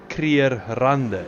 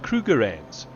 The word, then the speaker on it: Krugerrand: got to do with an ease of pronunciation, and that's why they changed from Krier to Kruger. I mean, in Afrikaans we talk about the Krierrande. In English they talk about Krugerrands. It's English pronunciation.